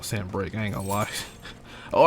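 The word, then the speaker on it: Sanbreque: But I didn't know Sambrick. I thought it was just Sambrika. Come on. But I have made a mistake mispronouncing it.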